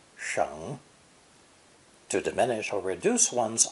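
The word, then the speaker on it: 省: Cataracts and poor eyesight lead to squinting to see clearly, so the other definition of sheng, sometimes pronounced xing, is to examine carefully, to scrutinize.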